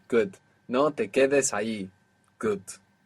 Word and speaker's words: allí: There's a tiny, even imperceivable difference between ahí, A-H-I, and ahí, A-L-L-I. How would you say don't stay there informally? No te quedes allí. Good. No te quedes allí.